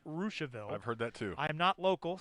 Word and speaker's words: Russiaville: which is in russiaville it's spelled russiaville but i've been told it's pronounced rooshville i've heard that too